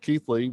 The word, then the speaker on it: Kethley: It's pronounced Kethley with no other A or I's included in the spelling.